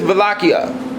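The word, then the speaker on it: Wallachia: was at war with vakia in uh European languages w W's are pronounced with a V sound in 1462 Sultan mid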